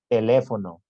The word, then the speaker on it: teléfono: con más énfasis en la antepenúltima este tipo de palabras siempre dice siempre tómenlo en cuenta eh siempre llevan tilde por ejemplo teléfono última penúltima antepenúltima célula última penúltima antepenúltima